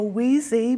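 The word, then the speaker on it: Wiese: signs back up, and they forgot to put the first E in, so Wheezy became Y. So instead of W-I-E-S-E, it's now W-I-S-E.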